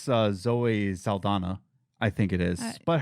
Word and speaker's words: Zoe Saldana: You know, there's no question of why we're doing it, except for probably Zoe Zaldana.